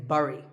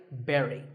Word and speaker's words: bury: I used to say bury. I mean, it looks like that, right? But this word sounds just like the berry in strawberry. So once again, bury.